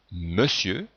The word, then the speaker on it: monsieur: fait on n'écrit pas on ne retrouve pas la lettre e dans monsieur on entend bien le sont eux mais on écrit o n dans le verbe faire